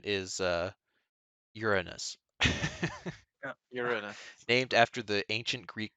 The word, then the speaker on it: Uranus: tab i completely forgot about uradus uh it's pronounced earnest you're a nus it's a god right of it's greek greek